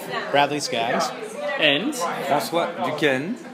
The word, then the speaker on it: Duquesne: And that's what Duquesne. How do you spell that?